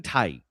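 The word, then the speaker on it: Tighe: Kevin Ty, I think it's how you say it, is 82. t i g h e.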